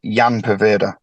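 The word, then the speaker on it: Ian Poveda: It's not Ian, actually; it's Jan Poveda. Oh, is it? It's spelled Ian.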